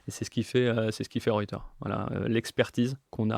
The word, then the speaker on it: Reuter: Non, Reuters, attention, ouais, Reuter, À la française. à la française, Reuter, ouais, c'est un peu compliqué.